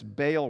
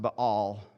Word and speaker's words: Baal: They're wholeheartedly embracing this Baal worship. It's probably best pronounced, but all, but I'm just saving a syllable, right? They're they're hard to find these days, so I'm going to say ba.